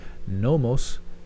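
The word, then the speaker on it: Nommos: This next group is called the Nomos. Nomo. The Phil Collins song.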